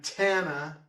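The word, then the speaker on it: tanh: with gosh and then tana rhymes with montana not miley cyrus but hannah montana cough rhymes with cloth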